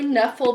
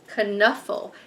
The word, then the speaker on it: Knuffle: So I've always pronounced that K silently. So anyway, I think it's Knuffle Bunny.